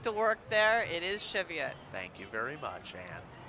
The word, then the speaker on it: Cheviot: discussion the other day on whether I was pronouncing that correctly so I just want to say it again Cheviot yes my mom used to work there it is Cheviot thank you very much Anne this was after